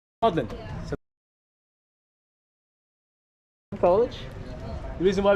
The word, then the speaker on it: Magdalene: But what he did, he changed the pronunciation of the name Magdalene. Pretty much he put his last name, Ma-Eline, Maudlin.